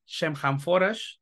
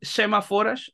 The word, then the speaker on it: Shemhamforash: la entrevista con semáforas se lo pronuncie bien semáforos yo siempre lo pronuncié enforage lo cual pues exactamente pero bueno es semáforas esta agrupación de Black